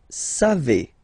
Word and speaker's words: savez: Then, vous savez. Classic ending for vous, E-Z, but then phonetically it's E.